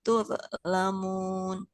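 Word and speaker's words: تظلمون: Wa in tubtum falakum ru'usu amwalikum la tazlimuna wa la tuzlamun. Nah, nggak boleh tuh Tuz, lamu ya. tuz, Huruf Z punya sifat mengalir suaranya. ya.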